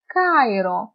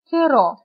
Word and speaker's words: Κάιρο: Για παράδειγμα, ρολόι, Κάιρο. Αλλιώς ήταν ρολί, ήταν εδώ, και καιρό. Αλλά αφού είναι στο πρώτο γράμμα, διαβάζεται ξεχωριστά. Ρολόι και Κάιρο.